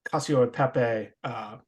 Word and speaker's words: cacio e pepe: Cacio e pepe. Okay, because it's just one C in the middle, and I'm used to the two C's being the cacio.